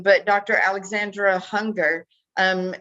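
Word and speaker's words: Junger: name but Dr Alexandra hunger um he's a Spanish a Mexican Spanish so um his last name is spelled j-u-n-g-e-r but he actually did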